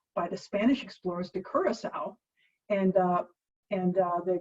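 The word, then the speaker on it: curaçao: alcohol okay so there's our introduction to orange curacao and yes that's how you say it from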